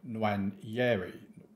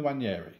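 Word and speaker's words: Nwaneri: Van Persie and Saka out wide with Mahara in behind Nwanyeri. That was a strange way to say his name. Ethan Nwanyeri.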